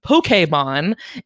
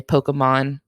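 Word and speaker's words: Pokémon: But I mean, it comes from Japanese, and that is very much how they say it. Most English speakers just say Pokemon.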